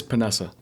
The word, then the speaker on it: Paonessa: name sure and how do you pronounce it it's panessa Vanessa I asked him three